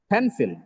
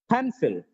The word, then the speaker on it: pencil: just pencil it is pencil pencil you have to pronounce the syllable pen with extra breath force louder and a little longer okay pencil it's not just pencil